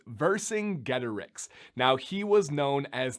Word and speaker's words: Vercingetorix: I'm sure that you did but this is pronounced versing getterex now he was known as the king of